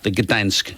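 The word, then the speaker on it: Gdańsk: fairly regularly from the Gdansk area. You're supposed to say it like that. I heard news people saying it, Gdansk.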